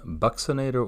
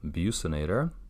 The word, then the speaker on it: buccinator: is minor we have the buccinator or bucinator however you would like to pronounce it i've heard it either way you have to sphincter